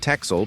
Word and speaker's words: Texel: Less than 2 miles off the Dutch coast, the picturesque Wadden Sea island of Texel, pronounced Texel, boasts expansive white sand beaches and a red lighthouse atop it.